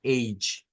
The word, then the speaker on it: age: Eh, Esto es yi, yi. Es aquella pronunciación donde se mezcla como una D con el sonido yi, yi. Entonces, esto es beige, beige. Y esto es age.